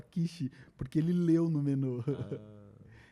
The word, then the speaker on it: quiche: E aí ele leu como se escreve, e ele falou quick pra garçonete. Can we have a quick? E é como se saísse uma rapidinha, e aí ela dá um tapa na cara dele. Eu te mandei esse vídeo. Mandou? E aí o cara fala assim, não, essa palavra se fala quiche, porque ele leu no menu.